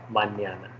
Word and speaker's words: mañana: The other one is hasta mañana. Okay, so this is the neo sound.